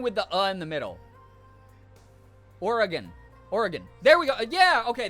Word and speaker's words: Oregon: Oregon. There we go. Yeah, okay, that one felt better. So I did say it right the first time. Damn. Oregon.